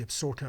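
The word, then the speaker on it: Absaroka: the higher peaks of the absurder it's spelt absorota but the absorker mountains so you have these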